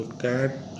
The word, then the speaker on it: can't: देखिए इस वर्ड का जो कैट जो बोल रहा हूँ, इसके दो प्रोनाउंसिएशन होते हैं। एक कैंट होता है, कैंट अमेरिकन होता है, काट ब्रिटिश होता है।